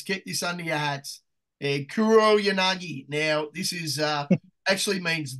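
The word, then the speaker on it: Kuroyanagi: So when all those fucking mentally retarded people in Adelaide call this like Kuriyangi, no, it's Kuro Yanagi.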